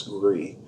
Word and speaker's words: gris: that's the jones pinot gris and you might notice the spelling is gris the wine originated in france the great origin of france and they don't pronounce the s so it's gree and gree means gray